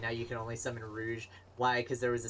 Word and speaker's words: Rouge: specifically a lot but he says Rogue not Rouge Rogue and I keep telling him it's not Rogue it's Rouge and he goes yes but it's spelled like Rogue yeah but they're the